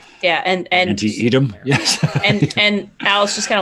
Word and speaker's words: Antietam: Antietam. I always pronounce it wrong. I always want to Antietam, pronounce that's right. Antietam. I always want to pronounce the I in there. Yeah, and Antietam.